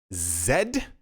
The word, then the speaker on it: Z: o side note people keep asking why I pronounce this letter Zed that is to say Zed Edie usually people